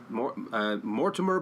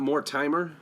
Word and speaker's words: Mortimer: excuse me Mortimer Mortimer Mortimer black am i correct am i pronouncing that right that is correct Mortimer black it's not more timer well that would be